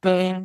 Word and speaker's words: Byrne: April: David Byrne (pronounced, "Burn") Nat: Byrne.